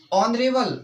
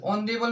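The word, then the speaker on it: honourable: इसमें ऑनेस्ट यानी कि ओ, यानी ओ का उच्चारण है इसमें, तो इसीलिए हम इसमें एन लगाएंगे स्टूडेंट्स। और देखिए स्टूडेंट्स ऑनरेबल, ऑनरेबल में क्या लगाएंगे हम, एन, एन, ऑनरेबल मैन।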